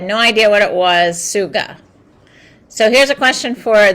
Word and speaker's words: Tsuga: So what you're going to find that's very interesting, it's spelled T-S-U-G-A, Suga.